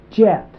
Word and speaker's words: jet: And over here we have jet.